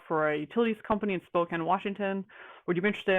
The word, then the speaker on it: Spokane: the utility company in Spokane Washington also it's pronounced Spokane not Spokane they had to teach me that and Spokane